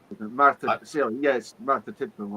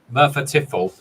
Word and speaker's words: Merthyr Tydfil: Martha Tiffel. I wondered. I thought I'd heard of it. Merthyr Tydfil, did I say it right? Yeah, Merthyr Tydfil, following the close of the UK's last opencast coal mine.